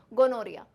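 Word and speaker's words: gonorrhoea: और इसको प्रोनाउंस बेटा हम रिया जैसे करते हैं, ये इतना वर्ड है रिया। बेचारी रिया ने कभी नहीं सोचा होगा कि उसकी स्पेलिंग ऐसी हो जाएगी, गोनोरिया।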